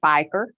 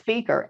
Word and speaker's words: Fieker: it was a solicitor because nobody it was figure and if you mispronounce it and so i thought the caller was a solicitor because she didn't pronounce my name as speaker she didn't waste any